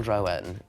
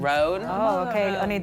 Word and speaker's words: Roan: And in Hollywood like Chappell Roan. Is it Chappell "Rone" or "Ro-an?" It's pronounced "Rone."